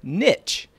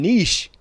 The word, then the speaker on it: niche: According to the Cambridge Dictionary, it is officially pronounced niche in American and Canadian English, and niche in British English.